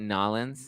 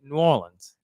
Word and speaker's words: New Orleans: favorite bar in nolens is that you say it nollins no we do not say it like that how do you can tell when people are not from there we say New Orleans New Orleans New Orleans